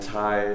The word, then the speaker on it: Thai: No, Ty. I usually just like to go by Ty. That's my Okay. first name, but it is spelled Thai because I have hippie parents.